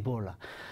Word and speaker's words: bol: 이 자음 L은 맨 끝에 와도 리을로 발음이 돼요. 거의. 그래서 이거는 우리말로 굳이 표시하면 볼이라고 발음이 되는 거예요.